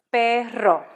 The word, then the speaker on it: perro: be pronounced maria so when you have two r's that r has to really sound you really have to roll that r i'll show you an